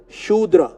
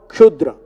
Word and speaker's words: Shudra: The pronunciation for that word is Shudra. It is not Kshudra.